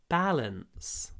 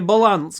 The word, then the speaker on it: balance: Это не баланс, конечно. Balance. Ударение на первом звуке, на первом слоге.